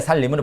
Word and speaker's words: 산림: 산림인데 살림으로 발음된다.